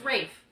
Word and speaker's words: Ralph: His name's Ralph, guys. It's Rafe. It's Ralph. It's spelled Ralph.